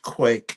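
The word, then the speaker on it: quaich: It's pronounced quake but spelled qu u a i c from the Scottish piper puter company.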